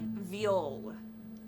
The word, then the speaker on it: Viol: Mercy Viol. Viol is spelled V-I-O-L, and it is pronounced viol. Like the instrument.